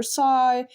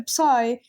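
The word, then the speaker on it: psi: Do I pronounce the p? No. So I'm going to call it s. If you hand me a sigh in principle, I would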